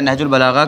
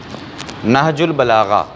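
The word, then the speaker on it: نهج البلاغة: लिहाजा प्रोनाउंसिएशन जो है नहजुल बलागा का वो गौर कीजिएगा। नून पर ज़बर है, हे साकिन है, जीम पेश है। नहजुल बलागा, नहजुल बलागा इसके माने क्या हैं?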